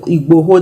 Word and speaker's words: Igboho: That's what happened to me when I saw the Sunday Igboho, I think that's the correct Igboho, that's the correct pronunciation, presenting a petition to the UK government for the creation of Yoruba land.